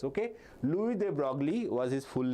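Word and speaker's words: Louis de Broglie: Okay, if you pronounce in current English, it will be Luis de Brogley, but he's a German. So his name is Louis de Brogley. Okay, the S remains silent.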